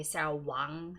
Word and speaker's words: Wang: hard to read and the name there was Sarah Wagner Sarah Weng or you could say Sal Wong Sarah Wang is how you say it in American English so some of the